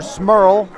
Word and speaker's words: Smurl: He was trying to reach Hunter Smurl, whose last name rhymes with squirrel. I know, I checked.